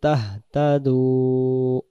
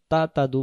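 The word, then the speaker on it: تَهْتَدُوا: তা মা হুম্মিলা পড়লাম, ওয়া আলাইকুম মা হুম্মিলতুম ওয়া ইন তুতিউহু তাহতাদু ওয়া মা আলার রাসূলি ইল্লাল বালাগুল মুবিন। ওয়া ইন তুতিউহু তাহতাদু, তাহতা তাহতা তাতাদু বললে হবে না, এই হায়ের উচ্চারণটা বেশি উঠবে।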